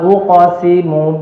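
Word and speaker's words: أُقْسِمُ: Fala uqsimu bil khunnas. Fala uqsimu bil khunnas. Fala uqsimu bil khunnas. Nah, di sini huruf qaf. Huruf qaf itu dipantulkan saja pada makhrajnya, Pak.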